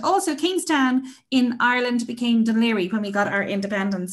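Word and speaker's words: Dún Laoghaire: And Queenstown became Cove, which is spelled C-O-B-H, and also Kingstown in Ireland became Dunleary when we got our independence.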